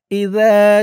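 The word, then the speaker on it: إِذَا: যা, আর জালের উচ্চারণটা নরম হবে। জিহ্বার মাথা উপরের দাঁতের মাথার সাথে লাগবে জালের উচ্চারণটা করার সময়।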